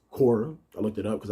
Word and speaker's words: Quora: ended up getting on kur uh i say kawar but i found out it's pronounced korra i looked it up because i was just